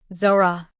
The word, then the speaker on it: Zora: It's Zora. Like aura, with a Z.